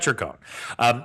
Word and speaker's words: Circone: I I looked up a pronunciation thing. I hope I get that right because based on what I saw in this video, Brad thinks very highly of himself and I don't want to interfere with his pronunciation. So, Brad Circone.